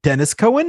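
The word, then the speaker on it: Denys Cowan: Even though Dennis is spelt the way that you would think Denis is.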